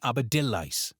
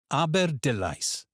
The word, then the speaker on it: Aberdulais: Here the AI sounds like I in by, and the stress falls on D. You'll most often hear it said Aberdulais. So let's try it again. Aberdulais.